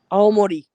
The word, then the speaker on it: Aomori: Aomori.